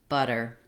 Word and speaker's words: butter: But the difference in these words comes in the vowel sound, the first vowel, and the TH sound versus the flap T sound.